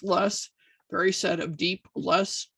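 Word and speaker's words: loess: and that's spelled l-o-e-s-s i for years i thought that was lowest but i've been informed that it's less very set of deep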